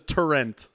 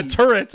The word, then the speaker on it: turret: call those turret so from the Midwest for some reason everyone says tur like that's a tur gun H it's weird right so but yeah turret but a turet like